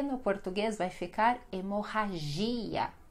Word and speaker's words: hemorragia: Deu para perceber então que sempre essas palavras que terminam com ia, essa será a sílaba mais forte, esse i que precisa ter o som, que precisa ter o acento forte ali, tá bom?